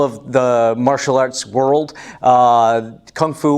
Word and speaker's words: Kung Fu: Kung Fu, or normally called Gung Fu, if you're trying to pronounce it more correctly, really means skill developed over time.